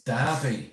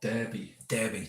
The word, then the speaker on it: Derby: It's Derby, Ian said, not Derby. Derby. Well, it's spelt Derby.